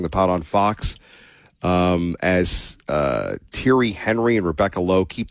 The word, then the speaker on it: Thierry: So, is this guy Thierry Henry or Theory Henry? What How do you pronounce this guy's name? Thierry, Thierry Henry. Henry? But it's it's spelled Henry. Yes, but in the French language, they pronounce words differently.